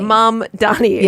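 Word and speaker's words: Mamdani: Mom dami. Mom and Donnie. Mom. Donnie.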